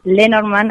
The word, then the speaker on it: Lenormand: Bueno, primero déjame decirte que lo pronunciaste muy bien. Es Lenormand, así que está perfecto la pronunciación que dijiste.